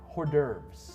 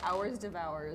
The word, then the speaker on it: hors d'oeuvres: I've already ordered some hors d'oeuvres. Hoarders. Orders. Horse derfs? Horse devour. Hersters? I used to think they were pronounced hours devours.